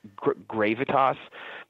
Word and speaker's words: Gravitas: don't know I guess the horse is pronounced gravitas that's how Kurt Becker pronounced it he feels like a